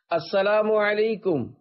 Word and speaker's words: السلام علیکم: لے۔ 11، سلام اور جواب سلام کا درست تلفظ یاد فرما لیجئے۔ پہلے میں کہتا ہوں، آپ سن کر دہرائیے۔ السلام علیکم، اب پہلے میں جواب سناتا ہوں، پھر آپ